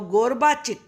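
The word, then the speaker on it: Gorbachev: आपको नाम का प्रोनाउंसिएशन बड़े ध्यान से देखना है, नहीं तो रीड करना नहीं आएगा आपको। माइकल गोरबाचिक। माइकल गोरबा, 2 पार्ट्स कर लो, गोरबाचिक। अब ये कौन थे?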